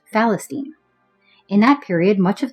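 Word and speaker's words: فلسطين: The Arabs, who had no name of their own for this region, adopted the Greco-Roman name Palestina that they pronounced Falestine.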